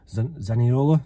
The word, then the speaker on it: Zaniolo: now and that is Nicola zanella zaniola that's how you say it and there's been